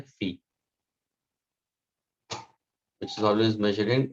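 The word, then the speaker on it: φ: इसको हम pronounce करते हैं phi, which is always measured in radians.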